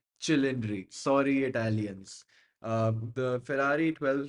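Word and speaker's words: Cilindri: the pastas piz p P but H it's cindry sorry Italians the Ferrari 12 cindry but like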